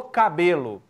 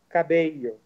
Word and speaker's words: Cabello: Então, assim, no Brasil eles falam cabelo com 2 L. Mas a pronúncia correta seria Cabelho. Então, Cabelho. Mas pode ser cabelo mesmo.